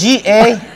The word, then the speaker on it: Gallegos: It's G-A-L-L-E-G-O-S. Gallegos. Gallegos. The double L sounds like Y. Oh, that's why. In Spanish, yeah.